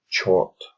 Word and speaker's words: chort: The ch, which comes from chain, and then ort, making chort, which rhymes with snort.